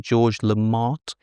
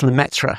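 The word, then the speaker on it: Lemaître: I never like to pronounce his name, but it's something like George Lamont. It's Lmetra. Lamemetra Lmetra with a bit of a with a bit of flem in there somewhere.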